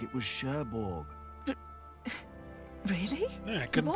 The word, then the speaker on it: Cherbourg: The place he came from wasn't Cherbourg, it was Cherbourg. Really? Yeah, I couldn't what pronounce were it.